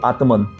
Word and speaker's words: आत्मन: Christian कहते atom, ATMN Greek word, Latin word ATMN, straight pronounce करो, आत्मन।